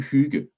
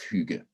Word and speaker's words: hygge: a couple of times the two g's kind of create a soft sound and my definition of